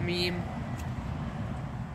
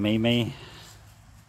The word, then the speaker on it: meme: Anyone remember that meme? Y'all probably don't. No. You mean Mimi? Jesus. Yeah, he cannot pronounce meme. It's spelled Mimi. Well, it's M-E. Me-M-E.